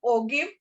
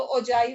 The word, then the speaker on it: ogive: Some people से ओगिव और ओजाई दोनों ही तरह से इसको प्रोनाउंस करते हैं। ठीक है, बट जो आपकी बुक में अगर आप देखो तो ओजाइव ही लिखा हुआ है